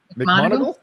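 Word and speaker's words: McMoneagle: Just another quick reminder, tomorrow we have Nancy how do I pronounce her last name correctly? McMonagle? Is that correct? Okay, McMonagle.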